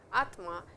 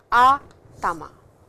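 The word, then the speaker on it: 頭: it down for you mark and please don't pronounce it as Atma it is our Tama please remember that then we have done a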